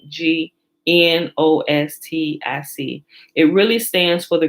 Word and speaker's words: gnostic: for the greek word gnostic which is remember the g silent g n o s t i c it really stands for